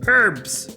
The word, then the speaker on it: herbs: Kai I am not the way Americans pronounce herbs is comical ever since I learned the word I can't get over pronouncing it herbs herbs do you want the H I'll give you the H herbs I'm still waiting for